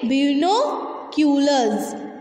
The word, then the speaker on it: binoculars: बीनोक्यूलर्स, एस को ज के साउंड में पढ़ते हैं।